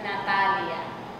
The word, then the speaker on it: Natalia: Natalia. Hey, it's like Natalie with the A on the end.